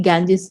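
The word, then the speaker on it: Ganges: Actually गैंजेस जो है इसका एग्जैक्ट प्रोनाउंसिएशन, जहां पे लोग जाते हैं, ठीक है.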